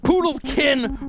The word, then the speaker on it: poodlekin: Like that rhyme, poodlekin rhymes with Anakin, like Skywalker, like Luke from the Two Live Crew.